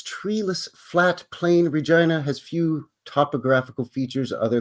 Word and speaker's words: Regina: But we pronounce it Regina, not Regina.